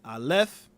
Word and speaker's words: Aleph: Both Aleph and Ayin are silent letters, which is I'm talking about with Adam, the hidden power, the silent power in Adam, which we have to discover. They have no sound aside from the vowel associated with them.